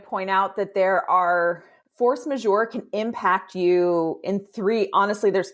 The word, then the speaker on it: force majeure: Now, talking about sort of force majeure.